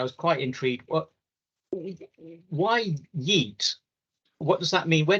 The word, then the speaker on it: Yeet: to ask I was quite intrigued well why Yeet what does that mean where did you get